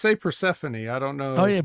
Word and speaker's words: Persephone: No, we say Persephone.